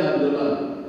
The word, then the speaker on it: Handholah: Kisah ringkasnya Bapak Ibu, Hanzalah atau Handolah, yang aslinya Handolah, tapi ChatGPT bacanya Hanzalah.